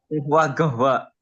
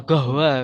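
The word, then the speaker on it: قهوة: Nah, atau biasanya Habib itu kof itu bacanya go. Gahwa. Nah, gohwa biasanya gitu.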